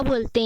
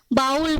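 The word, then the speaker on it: bowl: है जिसमें मुझे इसको हम हिंदी में कटोरा बोलते हैं उसको इंग्लिश में हम बॉईल बोल देते हैं बाल पर बाल बिल्कुल गलत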